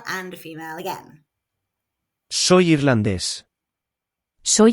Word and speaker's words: irlandés: There is an accent on irlandés, so the stress is where the accent is, and on the second to last syllable of irlandesa, where there's no accent.